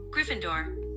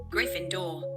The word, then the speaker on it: Gryffindor: US accent, Gryffindor. British. Gryffindor.